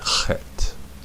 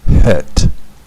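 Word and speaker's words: חית: Actually, the more air you put in it, the better off you are. Some people pronounce the chet as a het, right?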